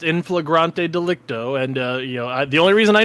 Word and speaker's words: in flagrante delicto: in flagrant delicto, in blazing offense indicating an individual has been caught in the act of committing a crime. It is actually pronounced in flagrante delicto, and the only reason